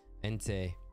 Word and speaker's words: Entei: Entei.